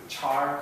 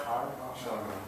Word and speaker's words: char: the first four letters Char car char some people pronounce it car some people pronounce a